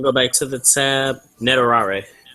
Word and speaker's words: netorare: Netorare. Netorare.